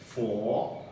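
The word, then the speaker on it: 佛: जैसे बुद्धिज्म में बोलेगा तो एक है फो, ये क्या है, ये इसका प्रोनाउंसिएशन है फो, संकेतों ने।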